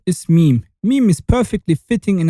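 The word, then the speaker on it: ميم: Our 24th letter is meme. Meme is perfectly fitting in a microphone and it's pronounced like the M of the microphone. You say meme.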